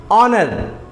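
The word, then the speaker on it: honour: जैसे एग्जांपल के लिए ऑनर एच ओ एन ओ यू आर ऑनर दूसरा एग्जांपल है आवर एच ओ यू आर आवर यहां पर भी एच साइलेंट है क्योंकि एच के बाद क्या है ओ है ओ से पहले एच है इसलिए यहां पर एच भी साइलेंट होगा रूल है ओ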